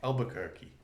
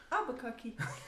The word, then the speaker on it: Albuquerque: Albuquerque. Am I saying it right? Yeah, you are. Albuquerque.